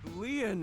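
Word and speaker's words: Lien: My name Lean is spelled L I E N in French. Lean means bond.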